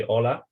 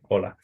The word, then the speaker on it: hola: pronounced very different so in modern Spanish the H is silent right if I say hola I write an age but I don't pronounce it I pronounce it as